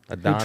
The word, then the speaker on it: Adonis: It's Adonis.